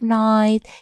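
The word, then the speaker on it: knight: Once Upon a Time there was a brave night is silent we don't pronounce it we say silent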